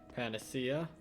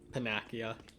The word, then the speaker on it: panacea: powder some silver scrap panacea as a kid i used to pronounce them uh pinakia that's because i only read the words before never actually listen to them and that's what happens